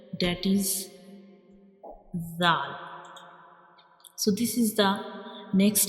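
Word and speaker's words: ذال: And when we pronounce zal, we will touch the tip of tongue to the edges of upper to front teeth.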